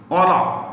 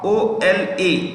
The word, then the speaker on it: Ola: Ola. O-L-A.